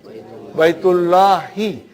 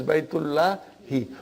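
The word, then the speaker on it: بيتِ اللهِ: Baitullahi. We always say Baitullah, Baitullah. But we never say Baitullahi. Correctly, it is Baitullahi.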